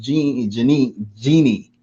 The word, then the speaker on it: Jeannie: And thank you, Janine, for that question. I apologize, Jeannie, for that question. There's no double N in here. So it's, I believe it's pronounced Jeannie.